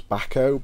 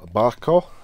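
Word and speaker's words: Bahco: / wrench was Swedish I don't know if it's backhoe but love a backhoe spanner or Barkov as I think it's it pronounced but yeah nice little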